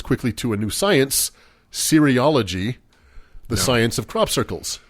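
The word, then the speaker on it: cereology: like cereal no well that's funny you say it sounds like cereal it's c-e-r-e-ology and it's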